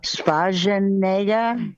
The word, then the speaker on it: Schwarzenegger: Schwarzenegger. Yes, and Egger, the double letter is responsible for that the sound before the double letter is shorter. So it's Egger. It's not, Schwarzenegger.